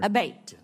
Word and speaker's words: Abate: to happen again yes ma'am ever uh Mr Abate and am I saying your name properly we've heard it pronounced three different ways today in the hearing aate Senator aate okay thank you um you had mentioned a